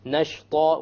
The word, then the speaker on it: نَشْطًا: Nashta, once again, should be heavy because the letter before it is heavy.